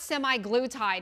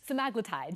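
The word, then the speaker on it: semaglutide: and by the way it's not semi glue tide it's seag tide just like tppa tide we've been saying it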